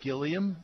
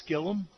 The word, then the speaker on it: Gilliam: It looks like Gilliam, but it's Gillum.